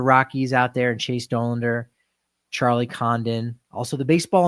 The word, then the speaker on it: Dollander: It is Dollander. Think about Homer, because Homer says Doe.